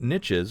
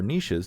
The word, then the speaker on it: niches: And when you have a general purpose product like ChatGPT, you're going to have different niches or niches, depending on how you want to pronounce it, evolving.